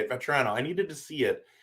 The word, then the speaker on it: Vatrano: Vatrano.